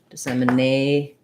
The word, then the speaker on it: dissemination: stress marker either place i'm going to put it before the end dissemination and then my tion ending is just my sh sound with a syllabic n so very little vowel there at all uh dissem